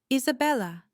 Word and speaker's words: Isabella: Isabella. She pronounces it with perfect Spanish inflection, the B soft as a whisper.